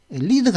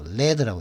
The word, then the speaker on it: lead: 리드가 아닙니다. 리드는 동사죠, 그죠? 이끌다 하는 이알 붙이면 리드는 이제 지도자인데, 근데 이게 리드가 아니고 이게 명사로 쓰면 납이죠, 납. 레드라고 이때는 레드라고 읽어야 됩니다.